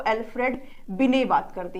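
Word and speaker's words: Binet: करते हैं वो अल्फ्रेड बिने बात करते हैं ठीक है इंग्लिश में टी होता है लेकिन ये साइलेंट होता है अल्फ्रेड बिने जो है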